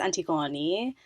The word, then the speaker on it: Antigone: a whole thing um i go by antigone in greek it's antiguani and i also speak french and in french it's anti-gun and i grew up in minnesota and most people here pronounce it anti-gone first time at least